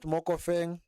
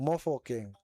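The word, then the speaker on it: Mofokeng: Not Moof Fang, it is Moco. Not Moof Fang, it's Mo. Oh, more fo king. Mofo king.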